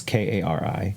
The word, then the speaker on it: Kari: I'm assuming it's pronounced Carrie. It's Kari. Yes.